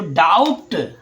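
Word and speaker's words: doubt: और जो डाउट जो ब लगा बी का भी बोल रहे हैं वो गलत होगा। क्यों? क्योंकि यहां पर आपका जो बी है ना वो आपका बी साइलेंट हो रहा है।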